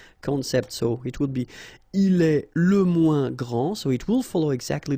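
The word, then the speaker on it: grande: final s okay so gr and then same thing here gr and regarding the feminine form you will pronounce it Grand okay don't insist on the final but then pronounce the D Grand and then exactly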